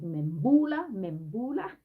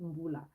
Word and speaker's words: Mbullah: A lot of people pronounce it Mbula. It's Mbula.